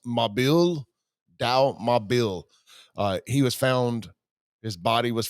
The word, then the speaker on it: Mabil: It looks like it's Mabel, but I think it's pronounced Mabil.